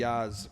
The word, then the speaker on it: jazz: Do you ever play the jazz flute? It's actually pronounced the Yaz.